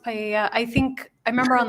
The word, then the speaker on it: paella: going to be used to cook paella. I'm not sure if that's how you pronounce it at the party. It's pronounced paella.